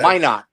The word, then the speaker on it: Minot: Minot, not Minot. It's pronounced So- Minot.